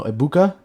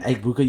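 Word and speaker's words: Egbuka: No, Ibuka. Ibuka. I believe it's E G B U K A. Ibuka. Uh I apologize if I pronounced that wrong. Uh Eggbuka, you're definitely not watching this video.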